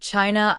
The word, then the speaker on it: Qin: He was the first ruler to unite all of China under a single government, creating the imperial system that would persist in various forms until 1912C. The name China itself derives fromQin, pronounced Chin.